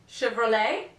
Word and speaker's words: Chevrolet: it's a French word if you find a French word used in English and this word ends in the letter T don't say the T Chevrolet whistle bustle and here